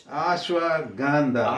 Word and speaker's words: Ashwagandha: How do you pronounce it? It's Ashwagandha.